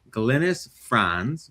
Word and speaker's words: Glynis Franz: Uh, I'm and today we are very fortunate to have a new friend with us, Glennice Fron that I pronounced correctly.